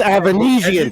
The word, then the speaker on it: Avanesyan: It's pronounced Avanesyan. Put some respect on his name.